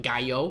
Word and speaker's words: gallo: there and of course it spelled like gallo cuz in Spanish you'd do the double Ellis's like guy oh so very smart by